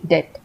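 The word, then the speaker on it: debt: वो हो गया एल डेट में बी साइ है इसे हम डेप्ट नहीं पढ़ते हैं हम लिखते डी ई बीटी है लेकिन डेप्ट में जो बी होता है वो साइलेंट होता है हम इसे पढ़ते हैं सिर्फ डी ई टी डेट तो इस तरीके से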